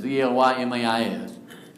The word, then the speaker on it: Elymais: I'm not sure how you pronounce it. It's Elymas.